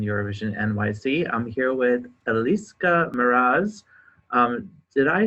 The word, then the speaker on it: Elis Mraz: I'm here with Elis Mraz.